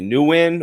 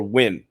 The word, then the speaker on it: Nguyen: Dat, and last name, some people pronounce it differently, Nguyen or Win. But every time I talk to him, I say Nguyen, and he doesn't correct me, so I'm going to go with that.